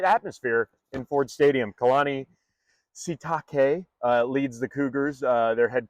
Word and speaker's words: Sitake: Kalani Sitake leads the Cougars, their head coach, and that almost sounds dirty. I know. You know, Shiitake.